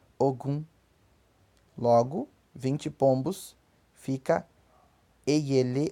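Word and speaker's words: ogún: E o número 20, em Yorubá, pronuncia-se Ogun.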